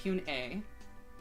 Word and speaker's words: Hyun A: Oh, so we've been saying Hyun A's name wrong this entire time. So it's Hyun A. Wow. So G or K at the start.